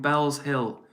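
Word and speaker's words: Bellshill: Arlo says, by the way, it's pronounced Bells. Okay, sorry, Arlo. So you're from Bells Hill.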